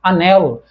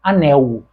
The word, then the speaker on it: anel: este objeto é esta existem determinadas regiões do país em que a pronúncia desta palavra é como anel anel como acontece nos falares do sul Mas aqui no Rio de Janeiro nós pronunciamos este L como se fosse um U semivogal nós falamos anel então Olhem só o